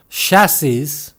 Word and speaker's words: chassis: 우리말 외래어로는 보통 chassis라고 하는데 영어로는 chassis 또는 cassis가 아니라 chassis 또는 chassis라고 합니다. chassis가 됐든 chassis가 됐든 끝에 s를 발음하지 않는다는 사실이 중요하죠.